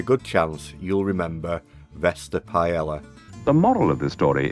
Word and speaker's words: paella: And yes, sorry, I will be pronouncing it paella and not paella, because I see that as the British pronunciation, and I feel a bit silly saying paella.